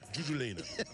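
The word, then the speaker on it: giuggiulena: do you say it again juula julena yeah julena and then we have our our bronzino uh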